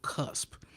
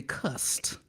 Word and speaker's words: cusp: Now today we talking about cusp. I didn't say cust, C-U-S-T, like everybody like to mispronounce.